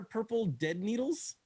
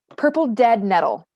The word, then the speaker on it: purple dead nettle: okay well definitely no what are purple dead needles um uh purple dead nettle purple dead nettle yes i said it wrong purple dead metal in